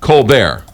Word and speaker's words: Colbert: a law firm and it would be Colbert Colbert cobbert and coar he's the only one who pronounces it that way so so is it's going to remain Co Bear Co Bear yes okay um but he's